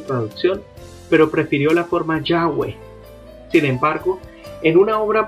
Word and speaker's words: Yahweh: en cuanto a que la pronunciación más correcta sea yahwe más bien únicamente de